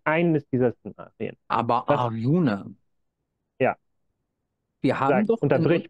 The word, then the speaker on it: Arjuna: Fast richtig ausgesprochen, Arjuna. Arjuna, okay.